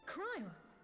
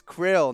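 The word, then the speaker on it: Krile: Cryle, I did not think you well enough to travel. Wow. Way to say her name wrong. It's Krill, not Cryle.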